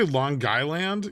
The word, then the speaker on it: Long Island: M did you say long guyand yeah that's how it's properly pronounced Long Island it's long with a G I wouldn't have done